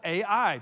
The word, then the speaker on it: Ai: small hilltop village of a.i spelled a i but pronounced a.i what should have been